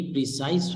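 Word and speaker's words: précis: यानी इसकी जो प्रोनाउंसिएशन है, जो प्रोनाउंसिएशन वो ये है कि प्रेसी. आप इसको प्रेसिस नहीं पढ़ेंगे, तो इसको कहते हैं प्रेसी.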